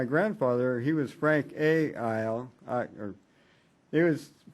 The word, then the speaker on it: Iyall: oh my grandfather he was frank a isle i it was it's mostly pronounced uh yeah okay i was raised with a